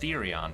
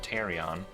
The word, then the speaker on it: Therion: Oh, I heard it's pronounced Therion today. That was interesting. Therion instead of Tyrion.